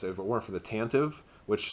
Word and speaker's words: Tantive: it weren't for the tantive which somebody told me is actually pronounced tantivy and I'm like I'm never